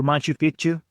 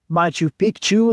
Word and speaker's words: Machu Picchu: really good meals, and they do teach you to say Machu Picchu, not Machu Picchu, because Pichu in Spanish and in Quechua it's kind of similar, but if you mispronounce it, Pichu is similar to a word that means dick.